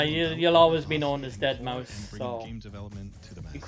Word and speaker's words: deadmau5: is your good friend joel professionally known as deadmau5 yes that is the correct way to pronounce it tell your friends we're here to talk to you yeah you'll always be known as dead mouse game development to the match is going to